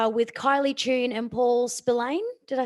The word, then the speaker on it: Spillane: Next presentation, my friends, is with Kylie Tune and Paul Spillane.